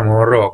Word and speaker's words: Munro: Quando ha vinto recentemente il premio Nobel, ho potuto ascoltare un'intervista radiofonica a Alice Munro e lei pronuncia Munro, quindi chi cavolo sono io e chiunque altro per sapere meglio della persona che porta un cognome come si pronuncia.